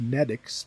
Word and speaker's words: NTX: That's the NTX, which apparently, going by the katakana, is supposed to be pronounced Netix, but nah, that doesn't make any sense to me.